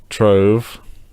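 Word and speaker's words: Trewerk: 18th century tree work tree work pronounced trove was once the grand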